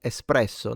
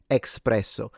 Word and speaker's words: espresso: If your barista hasn't corrected you already, your afternoon pickme up is called espresso, not espresso. Right. Okay. So, they are correct. There is no X and it is pronounced espresso.